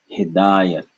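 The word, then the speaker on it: हिदायत: So he, aspirated, da, not aspirated, yat, not aspirated. Hidayat, hidayat, hidayat.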